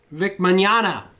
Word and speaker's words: Vic Mignogna: are dead how do you say the same vic Mignogna that's what it is i dick manana vic